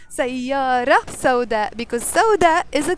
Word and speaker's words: سيارة: We will say سيارة سوداء because سوداء is a color. It's an adjective in Arabic. So we don't pronounce the T of the word سيارة.